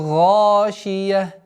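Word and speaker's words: غاشية: И таким образом Халь атака хадithul гашия. Звук О, как вы говорили, в арабском языке отсутствует. И поэтому нужно максимально твердое произношение звука А. Гашия.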